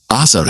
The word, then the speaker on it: آزر: کا نام تاروح تھا۔ عربی زبان میں اس کا تلفظ آزر ہے۔ قرآن میں بھی آزر